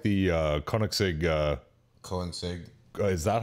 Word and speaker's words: Koenigsegg: It kind of looks like the Koenigsegg. Is that how you pronounce it? Is Koenigsegg?